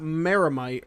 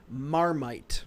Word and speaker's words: Marmite: it correct he said it's not miramite or maramite it's marmite there's no second a well you know us